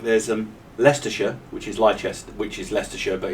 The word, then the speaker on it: Leicester: Yeah, but it's just as bad over here because we've got things like there's um Leicersha which is Lester which is Leicester but it's spelled Lchester.